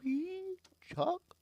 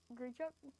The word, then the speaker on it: Grichuk: Good It's like Grichuk. Good chuck. Good chuck. Grichuk. I think that's why I said it at the start of the. Sounds like a Pokemon. That does. Grichuk.